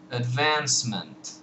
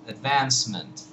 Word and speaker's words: advancement: at the word uh advancement advancement you have advance and then mint advancement now this last vowel in mint is really just a totally indefinite vowel it's it's more like